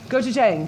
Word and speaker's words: gochujang: gochujang.